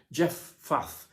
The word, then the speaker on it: Jephthah: where jephthah was from jeff faff was probably the best pronunciation of his name i might get it